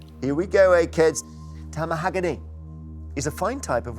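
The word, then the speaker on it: tamahagane: Tamahagany is a fine type of which product made according to Japanese tradition?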